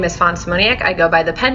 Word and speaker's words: Fawn Szymoniak: she has to say hello my name is Fon simonia I go by the pen name online of